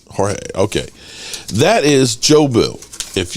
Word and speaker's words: Jorge: I mean, no, it's not George. Oh, God, I can't remember it. Jorge? Is that how it's pronounced? Jorge, okay.